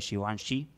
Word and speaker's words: Givenchy: Y estoy hablando de Matthew Williams, el director creativo de Givenchy. Se pronuncia así.